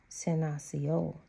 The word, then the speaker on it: Senasiol: And Senasiol, reference number 127, pronounced Senasiol, is the name of